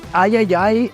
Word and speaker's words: III: partnering with called the Ayayay Initiative. Yeah, I'm pretty sure it's pronounced Triple I. You know, like AAA, but with I for indie.